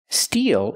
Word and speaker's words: steel: Steel is a kind of metal.